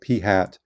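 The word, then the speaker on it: p-hat: for sample means and we're going to use p hat so p with a little carrot over it pronounce that p hat to represent a sample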